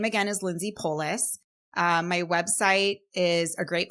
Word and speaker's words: Polic: So that's Polic. It's definitely, it should be like a Pollock or something, but it's a soft C there.